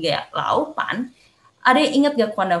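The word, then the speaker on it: 老板: Kalau ada nada 3 dan ada nada 3 kedua, nah kita cara bacanya itu pertama Lao-nya itu kita ganti dengan 2. Jadi Lao Pan, Laupan gitu ya.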